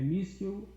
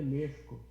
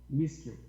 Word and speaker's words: Myskiw: Olha, é Miskil num bom português. Em ucraniano é Meshko, mas pode falar em português mesmo. Miskil.